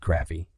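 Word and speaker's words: Krafve: under the direction of Richard Craft, pronounced Craffy, the division's assistant general manager.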